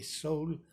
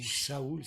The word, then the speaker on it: Saul: Je vais vous parler un peu des actes des apôtres, surtout de l'apôtre Paul, qui avant s'appelait Saul ou Saoul, ça dépendra de comment on veut le prononcer.